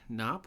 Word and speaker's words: Knopp: I'm pretty sure it's pronounced Knopp. Part of me wants to say it's Knopp. Knop. Two P's. It's two P's, right? It's a K-N-O-P. But the K silent, like Okay. in knife.